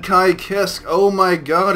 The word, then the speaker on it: Ky Kiske: two oh look look look they said it right they said they took high kiss can you believe it they actually said kai kisk oh my god it's